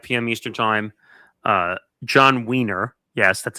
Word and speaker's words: Wiener: John Wiener, yes, that's how you say his name, from